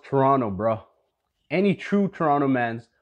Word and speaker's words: Toronto: really from toronto because he repeatedly pronounces all the letters in the word toronto it's pronounced toronto brah any true toronto